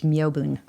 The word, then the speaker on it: Myobun: My Dharma name is Myobun. Great. And how do you like to be referred to? Myobun is a little hard to pronounce. Myobun? Yeah, people will often confuse it with Melvin, so.